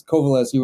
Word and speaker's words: Kowaleski: loud pretty close it's kovaleski with it sounds like a V but it's a w it's a secret V